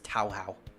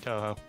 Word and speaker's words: Touhou: I'm sorry I'm American I'm supposed to pronounce it as tauhau Creepypasta back in the day he pronounced it as Tao how and yet and yet when he did the thing for the ransomware he said Toho yeah I mean he